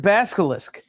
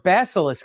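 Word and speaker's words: Basilisk: First appearance of Bascalisk or Bassilisk if you say it right.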